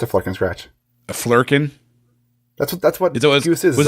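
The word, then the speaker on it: flerken: I kept wanting to say Firkin.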